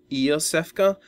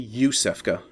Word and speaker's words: Iosefka: See, I was pronouncing it as, like, Iosefka, but it's actually Yusefka.